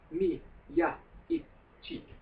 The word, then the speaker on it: Miyaichi: Japanese is split into, when you Romanize it, into syllables, usually of 2 letters, and each time there's a consonant, it's a new syllable. Right. Okay, so mi, ya, I, chi.